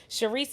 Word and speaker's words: Sherise: Sherise is spelled like she rise.